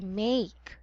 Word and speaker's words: make: this word my dear this is make it's a long a a make me very good job